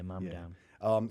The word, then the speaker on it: Mamdani: I always say his name wrong. What was his name? Mamdani? Yeah, Mamdani.